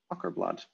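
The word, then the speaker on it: Åkerblad: Oh, A with a circle on top is pronounced like O in rock. Ockerblad.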